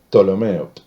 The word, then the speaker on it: Ptolomeo: se los generales fueron ptolomeo que se escribe con p p al principio pero no se nombra sería ptolomeo todo lo menos todo